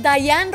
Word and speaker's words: Diane: Se escribe Diane, ajá, pero se pronuncia regularmente Dayan, aunque no tengo problemas claro, si dicen Diane o Dayan.